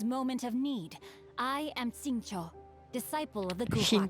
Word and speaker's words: Xingqiu: I am Xingqiu, disciple of the Guhua Xingqiu. clan. Yung pala yung pronunciation.